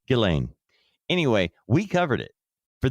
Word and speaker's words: Ghislaine: Oh, yeah, that was butchered so many times until we finally got to Ghislaine.